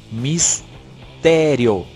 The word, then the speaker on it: mistério: Ó, mistério é uma paroxítona terminada em ditongo.